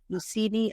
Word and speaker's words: Lucini: oil I wish I would have brought it it's spelled Lu u c i n i lucini olive oil they sell it at Whole Foods